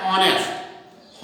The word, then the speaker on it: honest: हमें नहीं निकालनी है, इसको हमें पढ़ना है ऑनेस्ट। ऑनेस्ट इसको नहीं पढ़ना है, ये ऑनेस्ट पढ़ना है। इसका मतलब एच हमें सिर्फ लिखना है, इसको पढ़ना नहीं है, इसी को बोलते हैं साइलेंट एच।